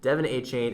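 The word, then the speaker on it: De'Von Achane: been playing the exact opposite of the Giants Deon achain I how he pronounces it Devon a chain and Raheem moer have just been lighting it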